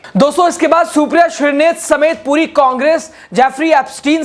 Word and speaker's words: श्रीनेत: फटकार लगाते हुए कहा हरदीप पुरी जी नाम है सुप्रिया श्रीनेत अगली बार सही उच्चारण कीजिएगा घर है महाराजगंज उत्तर